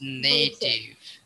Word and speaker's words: native: So you said the word spelled right, but it's a long A in that one specific word. So it's native. Native, yep. Okay, so it's when it's long A, then it's native.